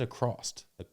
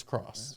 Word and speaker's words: across: You said accrost. Did I? Accross? Uh-huh. You heard it, right? Yeah, I heard it. Yeah, it's not accrost, it's across.